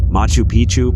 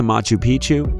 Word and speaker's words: Machu Picchu: Four, Machu Picchu, Peru. When a place rhymes with picture, you can almost bet it will always give breathtaking images every time.